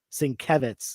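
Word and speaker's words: Sienkiewicz: s-i-n Dash k-e-v uppercase Singh kevitz like Kevin is the the emphasized syllable um uh Tom's saying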